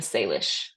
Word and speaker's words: Salish: But here in parentheses is the way to pronounce these names. So Tlingit, Tsimshian, Haida, Kwakiutl, Kwakiutl, and Salish, and then the Bella Coola.